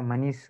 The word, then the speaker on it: Manish: Yeah, A is there, but have to pronounce as Manish.